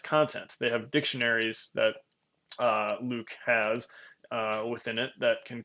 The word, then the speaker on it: LIWC: It's called Linguistic Inquiry and Word Count, LIWC, and they decided to phonetically pronounce that Luke, which I always kind of have to think twice about how to say it because it doesn't look like Luke, obviously.